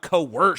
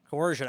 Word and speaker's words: coercion: wrong coerced tourists you up Co worse Scotty coercion actually yeah coercion yeah and Rosicrucian or Rosicrucian